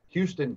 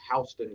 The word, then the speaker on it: Houston: you fall about an hour south in dothan houston county not houston county as they may pronounce it from folks up north but eufaula